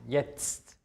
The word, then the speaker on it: jetzt: Die Kombination TZT wird wie ein Z ausgesprochen. Jetzt. Also man hört erst ein Z und dann noch ein T am Ende.